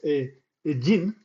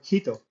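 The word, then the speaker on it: 人: This kanji means person and is pronounced jin in the context of nationality or hito by itself.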